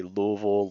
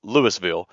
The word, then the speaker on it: Louisville: have the sign and they've got like the seven different pronunciations that you can say. Louisville, Louis, Louisville, and then of course the one that's totally off, Lewisville.